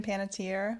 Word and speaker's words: Panettiere: okay another one that we can't I can't pronounce the last name forgive me uh pantiera I think Hayden huh Hayden oh Hayden Panettiere yeah I didn't yeah Hayden panett's here I